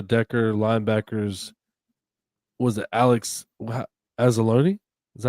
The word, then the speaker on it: Anzalone: It says among the less vague updates, Campbell said left tackle Taylor Decker, linebackers was it Alex Anzalone?